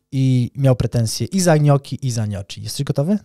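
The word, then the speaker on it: gnocchi: i ty nie wiesz jak się wymawia wypowiada wymawia nioki gnoki gci A co skąd ty jesteś Skąd ty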